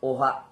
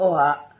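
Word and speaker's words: Ojah: yan So yung pangalang Oha ay matatagpuan sa bibliya din kaya lang ang letra niya ay o j a h o o ha So parang parang ha yung pronunciation doon yung tunog ha Parang dinugtong yung o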